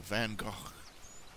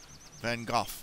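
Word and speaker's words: Van Gogh: uh Picasso and uh van go van goof that's how his name is actually pronounced go they would not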